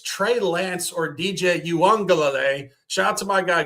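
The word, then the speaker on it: Uiagalelei: It's Trey Lance or DJ Yuangle. Shout out to my guy Guns Picks for teaching me that pronunciation three years ago when this kid was bouncing around college football.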